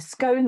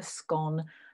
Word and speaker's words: scone: britain this is either a scone which rhymes with cone my slides are not working properly a scone that rhymes with cone or a scone that rhymes with gone and if i ask